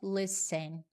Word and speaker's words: listen: Observa também, eu não pronuncio o T, é listen, tá?